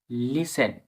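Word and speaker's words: listen: কিছু শব্দ আছে টি উচ্চারণ হয় না। পরপরে সাইলেন্স থাকে। যেনভাবে লিসেন্ড এখানে লিস্টেন না লিসেন এর একটা ভিডিও প্রথম পার্টে শব্দটি আমরা আগে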